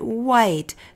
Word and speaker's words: white: So we're going to write white. W-H-I-I-I-I. We have a silent E at the end of white.